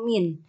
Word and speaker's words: mean: Oke, ukuran tengah yang pertama adalah rata-rata atau min. Jangan mean ya teman-teman ya. Saya masih sering banget mahasiswa menyebutkan rata-rata itu mean. Ketahui mean gitu, jangan ya. Tapi kita baca sebagai kita bacanya min.